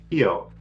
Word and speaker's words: Kio: Kio. Kio. So it's like key with an O at the end.